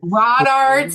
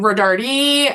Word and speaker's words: Rodart: So many people get my last name wrong. Rodart. I've gotten Rodardi. I've gotten all kinds of stuff.